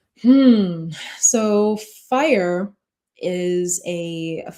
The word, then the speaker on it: FIRE: Is it fire or is it how you It is fire.